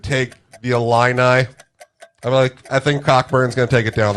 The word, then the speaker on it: Cockburn: And Cockburn, no silent CKs out here, will take down the national championship.